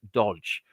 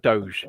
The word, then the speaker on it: DOGE: that's it you know I used to pronounce it as Dodge for years and years um wrongly and it's still a thing I'm trying to stop myself from doing sometimes um yeah yeah